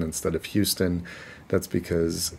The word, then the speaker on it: Houston: And people get confused sometimes because it's pronounced Houston instead of Houston. That's because it's named for someone who, it was named for someone who's Dutch whose name was Houston.